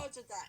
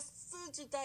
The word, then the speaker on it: 써주다: 써주다. Instead of 쓰주다, it's very hard. Try to pronounce 쓰주다. Yes. So if it's sound, it becomes 써주다 because it's easier to pronounce, okay?